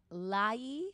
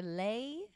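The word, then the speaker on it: Laie: so i'm going to lay or lay hawaii oh it's on it's on honolulu island lay like the one you wear l-a-i-e probably i think you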